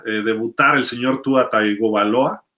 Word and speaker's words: Tagovailoa: donde pudiera, pudiera eh debutar el señor Tua Tagovailoa o Tungovailoa, como le dicen o que dicen que se pronuncia realmente, eh todo de blanco como el uniforme retro o el throwback, ¿no?